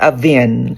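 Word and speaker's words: Avène: It's called Avin. Avin. Spell? Avin. Spell. It's spelled A-V-E-N-E.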